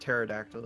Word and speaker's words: pterodactyl: in front of you don't actually have to pronounce the P it's a lot like